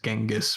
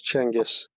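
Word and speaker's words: Genghis: language correct pronunciation because the Western is genis but I know that's not right yeah I was going to say genis but I didn't think that was right yeah I also was going to say Kangas it's changus thank you no sweat for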